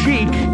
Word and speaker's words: chic: chic I know that it's French word so it's pronounced chic although it looks like chick that one called everybody